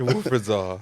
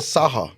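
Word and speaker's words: Wilfried Zaha: No, he said Saha. I meant to say Zaha.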